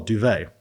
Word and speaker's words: Duwe: So, interesting, you know, my name, Duvet, D-U-W-E. That's how you say it, but that's how you pronounce it as well, Duvet, right?